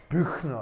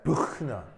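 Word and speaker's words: Büchner: 부가 아니고요. 부가 아니고 부예요. 알겠어요? 해볼까요? 부 시작. 부. 그다음에 ch가 독일어에서는 어떤 소리냐? 목구멍 소리라고 해요. 목구멍 소리. 그래서 발음은 어떻게 하냐면 이렇게 하는 거예요. 이거예요. 이게 독일어에만 있는 독특한 자음이에요. 그래서 합치면 너. 네, 부흐너 알겠어요? 네, 부흐너.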